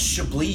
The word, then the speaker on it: Chablis: and he finally stops you and goes, "It's pronounced Chablis, you fucking troglodyte, you fucking idiot, you complete nincompoop, go kill yourself."